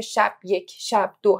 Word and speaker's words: شب یک شب دو: چاپ انتشارات خودمونم می‌گفتیم تلفز درستشم بگو چون خیلیا میگن شب یک شب د اصلا رو خود کتاب علامت ساکن آره روی خود واژه رو حرف ب گذاشته شده برای همین تلفظ صحیح شب یک شب دو هستش ب و آره میگم